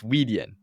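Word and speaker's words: Weidian: yeah like is it wait wait no it's weedian weedian and yupo um so people go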